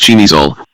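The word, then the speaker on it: Przemyśl: At some early stage in his beclouded career he became the owner of a Polish vessel Pierzamysl, pronounced Chimizol, which was devoted to carrying narcotics and other contraband products destined for the United States.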